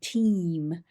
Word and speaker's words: team: mild Australian accent actually it could sound like time but it's actually team um so in British English I would pronounce this really long and a long way team but in Australian English is a little bit quicker our referral and access